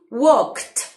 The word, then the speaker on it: walk: más fácil imposible pronunciación vamos a decir wok como si dijera una t al final no digo world que me digo walk it know what la l no suena y el n en